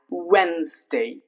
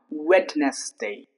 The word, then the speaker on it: Wednesday: So first one is Wednesday. So normally it's spoken it's pronounced as Wednesday but if we pronounce the silent letter then it would become witness day.